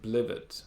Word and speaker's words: blivet: Interestingly here, the pronunciation, I'm saying blivet. Why am I saying blivet? The stress is on the first syllable, even though it's a nonsense word. Most 2-syllable words have stress in the first syllable, and so that's why automatically I'm saying this is blivet.